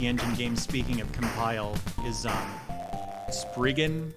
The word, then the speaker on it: Spriggan: game speaking of compile spriggan which i understand it should actually be pronounced sprigen i think but whoa that game